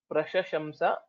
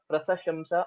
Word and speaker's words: प्रशशंस: Most of the times we will end up pronouncing it as prasashamsa or prashasamsha or something else. So we'll have to pay a little more attention while telling this word.